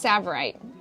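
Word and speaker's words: tsavorite: these are garnet's ladies these are it's called savorite and it actually starts with a tea i know and it's a hard one yeah but it is it is pronounced savorite so cool and i want to show you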